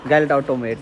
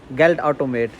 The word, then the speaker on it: Geldautomat: automate, Geld automate, Was? Geld automate, Was Geldautomat? Geld automate is ATM machine, Geldautomat. Geld automat. Yeah, Matt, we say it like this, MATMRT, Geld automat.